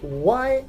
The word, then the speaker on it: why: In the word why, H is silent.